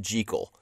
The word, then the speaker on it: Jekyll: I will warn you that I know it's pronounced Jekyll. I know that. But I will probably say Jekyll and Jekyll in equal amounts.